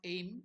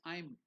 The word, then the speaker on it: aim: you about the pronunciation it's not aim it is I'm okay or if it is